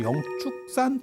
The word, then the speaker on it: 영축: 어 그래서 이게 취발음도 나고 축발음도 나고 추발음도 나는데 실제로 저거는 축발음으로 읽어야 된다.